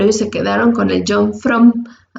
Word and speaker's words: John Frum: Se pronuncia la U como si fuera una O. John Frum.